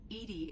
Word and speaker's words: EDI: are you named Edie Edie is the phonetic pronunciation of EDI that is an acronym for enhanced defense intelligence I thought it stood